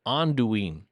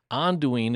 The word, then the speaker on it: Anduin: Well, as it turns out, the word was intended to be pronounced Anduin. Anduin is the way the author, Tolkien, originally would have pronounced that.